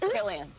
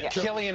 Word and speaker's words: Cillian: Did I say his name right, Cillian Murphy? Killian. Killian Murphy. I want to get it right. Kill you.